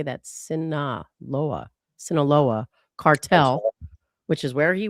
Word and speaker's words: Sinaloa: Um, and they say these pills are being mass- prodduced by the Sinola Solola, how do you say that? Saoa Sinaloa cartel, which is where he was in Mexico, right? Sinaloa.